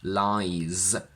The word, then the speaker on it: lies: verb to lie is lies with a voiced z.